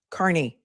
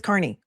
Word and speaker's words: Kearney: Aiden's last name is pronounced Kearney. Kearney. It's not hard. It's Kearney.